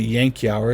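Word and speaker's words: Yankauer: to insert the actual what we call the Yankee our it's it's spelled Y 8 and k u ER the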